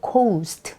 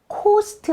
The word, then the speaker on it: coast: the coast off the cost 자 이건 발음도 정말 중요한데요 cost 아니고 cost 예요 자라고 썼지만 해변이라 뜻이에요